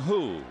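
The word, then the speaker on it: Hu: so now chin long who the young shortstop will come up in Bat that last name is spelled h-u who tell you the truth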